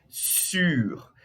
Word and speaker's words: sur: Então, por isso que o primeiro eu falei sur. E o R é um pouquinho pronunciado, tá?